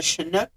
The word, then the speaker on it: Chinook: Per the story, the original story, the property was built on top of a Chinook burial ground. That is how it's pronounced.